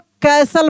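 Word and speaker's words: castle: इसमें T silent रहता है। यानी इसको हम लोग कैसल पढ़ते हैं। क्या पढ़ते हैं? कैसल सी एस टी एल ई T silent रहेगा। यानी कैसल पढ़ेंगे।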